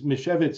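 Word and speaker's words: Misiewicz: And his name is Mishevitz. It sounds Polish, right?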